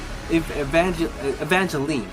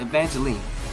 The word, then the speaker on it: Evangeline: So in this where we get introduced to a new lady, Evangeline or something like that. What's her name? Evangeline. Sorry, that's how you pronounce it. Evangeline.